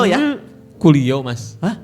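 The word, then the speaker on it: Coolio: Gengster Paradise itu penyanyinya Colio ya? Kulio Mas. Hah? Bukan colio bukan bacanya enggak gitu. Hurufnya apa? C C O L I O O O Iya dibaca kulio cuma memang tulisannya heeh y yo.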